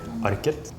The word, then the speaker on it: Arket: So some places in Norway you would pronounce the T, so you would say Arket. And in other places in Norway you would just drop the T, like my accent, and then it would just be Arke.